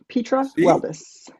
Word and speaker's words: Petra Weldes: And it's pronounced Petra. Petra Weldus.